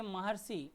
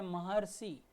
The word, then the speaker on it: महर्षि: अर की ध्वनि आ रही है।